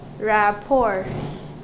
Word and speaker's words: rapport: And then rapport. Rapport. There are two syllables and a second syllable.